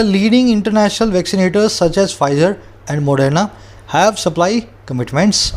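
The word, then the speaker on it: Pfizer: फाइजर दुनिया की सबसे बड़ी मेडिकल कंपनी है, इसका पी साइलेंट होता है, इसको फाइजर बोलें, पी फाइजर ना बोले, है ना।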